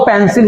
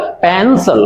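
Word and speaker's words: pencil: ये वो शब्द जो मैंने वहां शुरुआत में आपको पढ़ करके दिखाया था, तो इसको अधिकांश लोग पेंसिल ही पढ़ते हैं। इसका प्रोनाउंसिएशन है पेंसिल।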